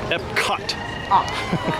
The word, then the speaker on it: Epcot: I feel like every time I hear the word Epcot, I want to say it like Walt does. Which is what? Epcot. He would always enunciate the cot for some reason.